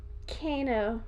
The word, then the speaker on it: Kano: what we thought it was raiden's the actual pronunciation see this is why i still can't figure out so is it kano ricano kano yes good job i thought of it because